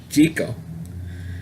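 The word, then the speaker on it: Jekyll: Jeckyll and Hyde story, everybody pronounced the name Jeckyll, not in the 1932 version. They call it Jeckyll. And instead of Jeckyll, it was pronounced Jeckyll.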